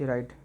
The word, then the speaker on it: Wright: D part भी मैंने डाला है, राइट, WRIGHT, राइट, pronunciation same लेकिन डिफरेंट है स्पेलिंग इसकी।